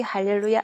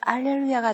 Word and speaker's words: 할렐루야: 크게 찬양하는 외침이기 때문에 아마 H 발음 하라 하는 게 더 그때는 적합했으리라 생각합니다. 그래서 혹시 할렐루야, 알렐루야 혼동하실 필요는 없으시고요. 조용하게 부를 때는 알렐루야가 더 낫지 않나 이런 생각은 가끔은 해봅니다.